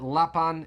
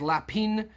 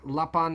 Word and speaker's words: Lapin: would have learned that lapan is uh it's not pronounced lapin because it's actually french and lapan is french for rabbit